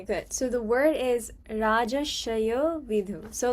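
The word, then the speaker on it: राजर्षयो विदुः: So like when you pronounce it, like it would like the R would be silent in a way, so it would be like Rajashayo Vidhu. Can you say it? Rajasaya Vidyu.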